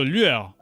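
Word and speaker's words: lueur: as get it wrong so lure I think in English is it might be close to lure lure I think but yeah so it's like L and then L you can say it like this L and then you say it at one time L that's how you say it and uh I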